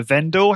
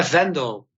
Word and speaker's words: Vendel: Today's guest is Vendel. Have I pronounced your last name correctly? Yeah, Vendel.